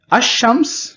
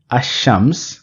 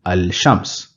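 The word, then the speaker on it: الشمس: be pronouncing the lamb Asam we will not be pronouncing the lamb here because Shen or the alphabet following the L is not present in so in this case we will say Asam rather than saying Al Shams there is a designated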